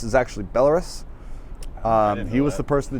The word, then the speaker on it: Belarus: right like uh the country I thought was pronounced Belarus is actually Belarus um he was the person to teach me